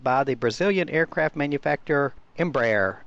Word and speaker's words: Embraer: the Brazilian aircraft manufacturer Embraer or embri depending on how you want to pronounce it it can carry